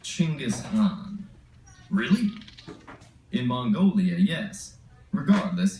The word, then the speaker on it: Chinggis Khan: We'll see in History versus Genghis Khan.